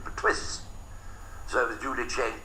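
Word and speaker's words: Perthuis: And nobody could pronounce the name properly, Pertwee de Layevo, P-E-R-T-H-U-I-S. They couldn't pronounce it, so the illiterate English pronounced it Pertwis.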